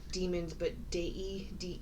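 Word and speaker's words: daemons: and the demons I I pronounce it Damon because it's the word d-a-e-m-o-n-s like demons so I pronounce it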